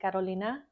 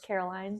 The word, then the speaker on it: Carolina: In Spanish, that would be Carolina. That's how I say it correctly. I always get referred to as Caroline, so that's a little bit annoying. And They don't even use the A. I know. I'm like, the A is there.